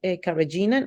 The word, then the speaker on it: carrageenan: En inglés se pronuncia carrageenan o la carragenina, el polisorbato 80 y carboximetilcelulosa, CMC o el cellulose gum.